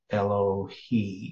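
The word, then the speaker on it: אֱלֹהֵי: Yeah, so it's the masculine plural, Elohi is how it's pronounced here.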